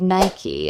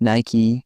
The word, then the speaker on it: Nike: People often stretch the word Nike as if it rhymes with bike. The brand insists it should sound like Nike with a clear ending.